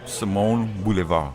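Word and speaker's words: Simon Bolivar: in the How do you local pronounce vernacular. Simon Boulevard Street? Simone Boulevard.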